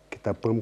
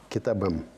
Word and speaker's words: китабым: Но если мы будем произносить с окончанием звук «п», это будет не очень комфортно. Китапым как-то так некрасиво звучит. Поэтому произносится звонкий звук «б». Китабым.